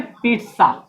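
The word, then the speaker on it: pizza: खैर, तो इसको हम लोग पिज्जा ना पढ़ के हम लोग क्या पढ़ेंगे, पिज्जा, पिज्जा।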